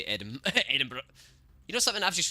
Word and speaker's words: Edinburgh: No, you don't say it as Berg, mate. You don't say Edinburgh.